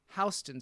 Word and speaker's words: Houston: Oh, they pronounce Houston Street like the city in Texas.